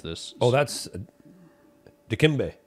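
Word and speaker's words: Dikembe: uh which I I don't remember how to pronounce this oh that's d kimbe d kimbe okay kimbe D kimbe um track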